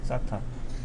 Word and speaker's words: SATA: 그래서 이거를 SATA라고 읽어요, 그냥 SATA.